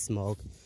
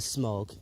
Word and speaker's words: Smaug: I pronounce it smog.